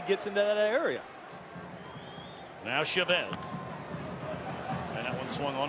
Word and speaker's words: Chavez: And some of you may be wondering, you've heard him called Chavez. And we asked him about it, and he said he doesn't really mind either way. He said, but his father has always pronounced the family name Chavez.